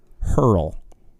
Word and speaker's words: Hurl: It is Hurl. Yeah. Hurl, as in like when you have to throw up, what do? You hurl. You hurl, right?